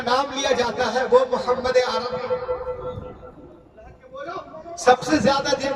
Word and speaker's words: محمد: 80-90% لوگ مدرسے کو ہٹا دیا جائے تو محمد بولتے ہیں، محمد محمد، تلفظ صحیح کریں، بولیے محمد، ہاں نکالیے، محمد صلی